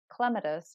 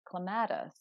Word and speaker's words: clematis: And after a while, when you're speaking to other people, you start to learn it is clematis, not clematis, and that can change it. But it doesn't really matter because if you say clematis, I know you're saying clematis.